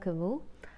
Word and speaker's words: Camus: Somebody corrected me that I was pronouncing his name wrong, but I checked online how to pronounce his name and it said it is not Albert Camus but Albert Camus.